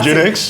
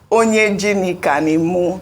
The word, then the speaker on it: Onyejinika: Is it the pronunciation that is not correct? Yes. Oh yeah, what is the correct pronunciation? Everything is wrong. I'm afraid to tell you because I feel like you're going to use it. Are you not Onyejinika? No, my full name is Onyejinika.